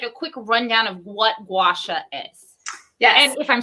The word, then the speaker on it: gua sha: quick rundown of what gua sha is yeah and if i'm saying it right you are i always tell people it's gua like guacamole oh that's good yeah